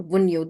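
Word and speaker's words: Wunjo: This symbol is called Vunyo or Vunyo. The J is silent over here.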